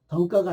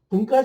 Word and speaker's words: 등가: 등가가 아니고 등가. 네, 발음이 그래요.